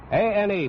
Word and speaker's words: Ane: A-N-E, pronounces his name Ane, from Honolulu.